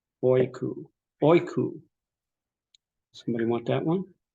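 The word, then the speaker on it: οἴκου: Here you've got a diphthong with both the breathing and the accent on the second vowel. oiku, oiku.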